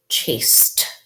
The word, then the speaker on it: chased: Chased. This past tense suffix, chased. Remember the ED can make the T sound.